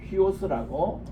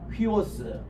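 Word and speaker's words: υἱός: 그 이걸 때는 히읗을 넣어서 휘라고 읽으셔야 돼요. 휘. 따라합시다. 휘오스.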